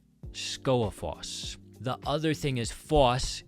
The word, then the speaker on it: Skógafoss: followed by a vowel, the G is not pronounced. So, we'll break this one down. We've got Skó a foss. Skógafoss.